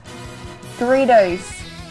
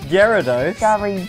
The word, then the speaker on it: Gyarados: like you know this one too it is Doritos yeah it's pronounced Gyarados Gyarados Gyarados Doritos and what's this Loch Ness